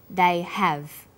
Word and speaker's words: have: strong and weak forms when they are unstressed the H sound is dropped but when stressed the H sound is pronounced now let's listen to